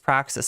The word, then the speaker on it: praxis: I certainly, as a ContraPoints fan, I should know that it's pronounced praxis.